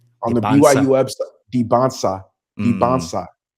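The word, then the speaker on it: Dybantsa: Debonsa Debansa. There's no stop. I don't know why we kept saying it. It's the SA. The T is before the SA. Debonsa, AJ Debansa.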